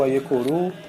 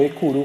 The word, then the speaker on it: Aiekuru: Então, conforme vai se falando, Exu Aiekuru, a má linguagem, a má pronúncia, acabou deixando como Ekuru, por exemplo.